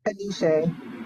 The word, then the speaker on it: Anise: Excuse me if I pronounce wrong. Is Anise or Anise? Anise.